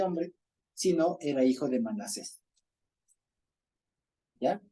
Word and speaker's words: Manasés: Manasés. ¿Por qué? Porque Manasés se escribe así.